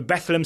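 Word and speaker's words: Bethlehem: Career Pro start in a 2-1 win over bethleem steel that's how I've been told to pronounce it um he he is now the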